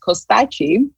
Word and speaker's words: Kostaqi: so again case kostaki maybe my last name seems a little bit um strange it's actually pronounced costachi and is it is from a it's a Greek last name I'm actually Albanian I